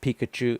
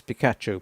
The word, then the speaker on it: Picacho: area and it's looks like it should be pronounced Pikachu it's not it's Pikachu Pik area anyway they went out for a